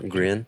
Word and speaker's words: Grian: Their front man is, how do you pronounce his name? Grian.